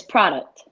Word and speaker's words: Produkt: up my name so his name is product products okay yeah exactly how it is spelled just with a k instead of instead of a c but he's another phenomenal